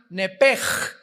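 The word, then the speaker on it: נפש: que al salírsele el nepesh, apúntalo ahí, el alma en el hebreo es nepesh, se pronuncia nepej. La ch en hebreo se pronuncia como J.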